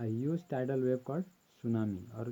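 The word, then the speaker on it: tsunami: ये इसको हम लोग सुनामी प्रोनाउंस करते हैं, ठीक है।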